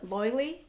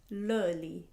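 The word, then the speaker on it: Löyly: So on the sauna fence, I did this place called Loili, but it's pronounced Löli.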